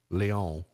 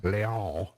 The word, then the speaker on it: Lyon: A linguistics professor from Lyon, see, I speak French, I said that correctly, Lyon, points out that the English language uses thousands of words taken from French about 1,000 years ago.